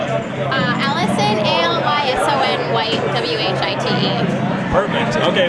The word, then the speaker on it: Alyson: Okay, give me your name and how you spell it. Allison, ALYSON, White, WHITE.